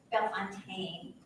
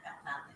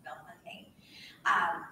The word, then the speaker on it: Bellefontaine: Next door to Bellefontaine is also Bellefontaine, that is the correct way to pronounce it. It's not Bellefontaine, it's Bellefontaine.